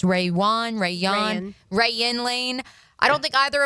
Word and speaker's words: Rayuan: I don't believe Caleb Ransaw or Rayuan Lane, how we determined it's pronounced, Rayuan Lane.